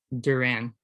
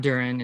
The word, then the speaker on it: Duran: his first name um my understanding is it's johan duran okay not durian it's duran so he throws 101